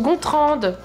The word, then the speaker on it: Gontran: café à l'aide bonjour je m'appelle Gontran mais ça se prononce gonrande mais respect je suis